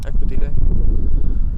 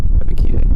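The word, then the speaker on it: Ebiketie: Is that how you say it? Ekpedite. It's Epikide.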